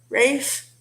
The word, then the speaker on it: Ralph: Another example of that, it would be Made in Manhattan with Rafe, which he spells it Ralph, like Ralph, only it's pronounced Rafe.